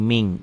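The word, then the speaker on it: مِنْ: nun mati ketemu Kaf Min dibacanya jadi Ming miatin ini tadi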